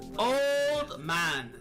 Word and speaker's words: old: Old man. Old man. The D sound in old is often dropped. Especially speaking quickly, it becomes old man.